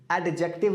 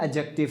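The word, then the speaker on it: adjective: कब, इफ a noun does the work of एन एडजेक्टिव, एडजेक्टिव नहीं है, एडजेक्टिव है, डी साइलेंट है, एडजेक्टिव, राइट, ध्यान रखिए प्लीज।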